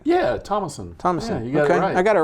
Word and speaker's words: Thomason: Yeah, Thomason. Thomason. Yeah, you got it right. I got it right. It's spelled Thomason, but we just leave the H as silent.